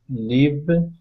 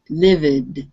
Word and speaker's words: lived: Loved, mailed, played, saved, lived, sailed. Okay. Be careful that you don't pronounce the E after the V. It was sounding a little bit like lived, livid. Lived. It has to be lived.